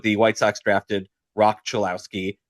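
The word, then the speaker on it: Cholowsky: Um but the White Sox drafted Rock Chillouski, not Chilouski, Kevin, as as our uh brilliant MLB commissioner Rob Manfred pronounced.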